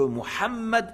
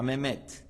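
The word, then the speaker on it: محمد: le nom du Prophète Mohammed c'est pas mehed c'est pas mehed c'est Mohammed et c'est pas Mohammad c'est Mohammed avec le ha s'il n'arrive pas à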